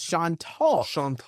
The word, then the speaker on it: Chantal: And now I believe the pronunciation from what I was looking at yesterday is Chantal.